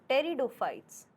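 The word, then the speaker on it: Pteridophytes: that was third group was टेरिडोफाइट्स टेरिडोफाइट्स P silent है टेरिडोफाइटा ठीक है या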